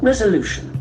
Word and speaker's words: resolution: Resolution. Resolution. The accent falls on the third syllable resolution.